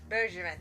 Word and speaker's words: Bergeron: I think it's Bergeron. Am I pronouncing that correctly? Bibo Bergeron. Bergeron, thank you. It's French.